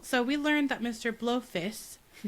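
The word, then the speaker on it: Blofis: Blowfist, which will be the only time I say it correctly.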